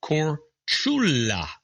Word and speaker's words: Korčula: Did you know that Marco Polo was born on the Croatian island or Korčula, pronounced Korčula?